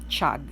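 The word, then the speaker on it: חג: It's hard to pronounce. Hag. Chag. Hag. They have a certain way of producing a sound for Hag festival.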